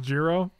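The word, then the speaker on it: Gyruda: cool my bad euro it's actually pronounced gyro pronounced jiro what do you think the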